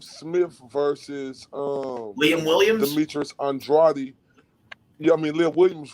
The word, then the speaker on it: Andrade: I said Andrade because, I only knew Librado Andrade at the time. And I called him Demetrius Andrade, and guess what? He goes, no. Brother, if you're gonna say my name in an interview, and this was on video, right? He goes, if you're gonna say my name on an interview, you better say it right. It's Andrade. So I'm sorry, as you were, brother.